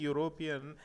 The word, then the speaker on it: European: Here we got a vowel letter, but while we are pronouncing European, here we are getting consonant sound.